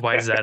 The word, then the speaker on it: Wayzata: yeah you that's a thing you would think it's w-a-y-z-a-t-a Wayzata but it's why is that up yeah yeah we have